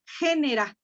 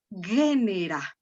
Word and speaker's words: genera: Y ahora, María José pronunció esto como nosotros tendríamos que pronunciarla o leerla, génera. Pero recuerden, fíjense, si digo G, ajá, es un sonido fuerte. Lo hacemos como si tuviera una U. Y entonces lo pronunciamos suave, María José, y decimos génera.